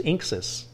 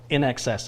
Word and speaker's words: INXS: saw that you went who does inxis no no in excess is how you pronounce it The Eurythmics Missionary Man